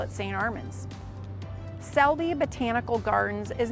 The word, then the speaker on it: Selby: they read it properly I think the issue with this one is a lot of times people just misread it as Shelby but it's not it is Selby botanical gardens uh and